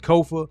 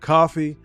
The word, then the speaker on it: Kofa: I am your host, Kofa, Kofa, not coffee, not, not Kofi, or any variation thereof. Kofa rhymes with sofa.